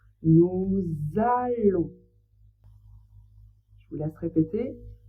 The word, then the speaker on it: nous allons: En français, ça fait le son on et le s on ne le prononce pas. Donc on prononce nous allons. Je vous laisse répéter nous allons.